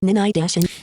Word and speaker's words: Ninite: Ninite. So, as you heard, Ninite is spelled N as in November, I as in